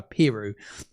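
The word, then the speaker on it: Piroe: Pirou, to pronounce it correctly, it was Pirou.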